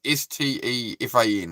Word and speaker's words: Stefan: Because Stefan is Stefan, right? That's Stefan. Stefan. And it's Stephen, if it's spelt with the PH.